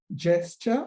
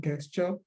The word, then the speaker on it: gesture: Please note that it is gesture and not gesture.